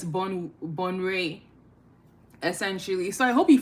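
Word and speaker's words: Bonwire: because I was saying Bonwaya before. I was just pronouncing it how it was spelled, and yeah, that wasn't correct, but it's Bonray essentially.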